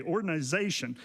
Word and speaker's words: ordinization: It's not ordination. I'm not saying that. Okay, ordinization. And by that, I just simply mean making ordinary.